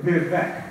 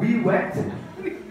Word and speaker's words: Vivek: My name is Vivek. 我個名係 Vivek 啦，係咪？My name is Vivek. Right? One year my teacher sees my name, 佢見到我名，跟住望住我，Okay, wet. I've been called Wee Wet, Vicky.